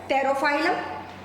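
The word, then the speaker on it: Pterophyllum: तेरा बेटा में 13 पी साइलेंट है तेरो फाइलम एंड बेटा पिटा ओके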